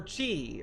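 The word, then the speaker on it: χ: This is the X is pronounced key, hence the keyblade.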